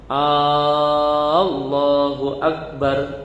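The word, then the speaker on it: الله أكبر: Allahu Akbar, baknya tidak ditasydid, tidak dibaca syiddah, ya.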